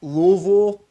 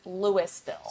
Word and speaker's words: Louisville: Oh, well, there is a town in Colorado that is spelled in boy. the exact same way as Louisville, but it's Louisville.